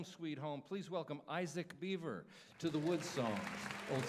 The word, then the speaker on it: Biver: It's B I Vera, but it's pronounced Beaver, right?